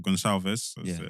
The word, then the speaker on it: Gonçalves: It'd be Trincao, Gonçalves, or Gonçalves, that's the English way of pronouncing it.